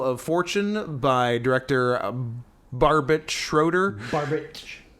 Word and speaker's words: Schroeder: fortune by director barbit schroeder could be schrader i've seen s-c-h-r-o-e-d-e-r pronounce traitor sometimes which i don't care for because there's no a involved yep but uh anyway